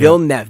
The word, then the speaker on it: Villeneuve: match, we have Michael Villeneuve. Villeneuve. Yeah. Villeneuve, that's what it was. Okay, I knew I was pronouncing his name incorrectly, and he corrected us. He's like, hey, it's actually pronounced this way.